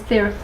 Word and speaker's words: Theraphi: overview of what is theory by some people say there a fee like therapy but it's how you pronounce the Greek letter Phi or fee and it's related to